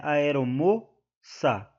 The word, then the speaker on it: aeromoça: é uma oxítona também em aeromoça o mo é a é a sílaba tônica né aeromoça então eh não é também uma oxítona se trata de uma paroxítona porque a sílaba tônica da palavra aeromoça é a penúltima e aqui restou apenas